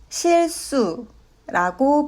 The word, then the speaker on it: 실수: 실수는 실수라고 발음합니다.